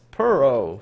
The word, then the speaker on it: Puro: All right, now, this name, I'm not going to try, but according to the email, it's pronounced Puro, so hopefully I got that right.